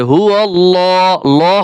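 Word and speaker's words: هو الله: এইখানে কিন্তু অনেকে হুয়ল্লা বলেন। লা বলা যাবে না। লামকে মোটা করে পড়তে হবে। হু আল্লাহ হবে। ললা না হবে। হু আল্লাহুল্লা হু আল্লাহুল্লা টান দিতে হবে।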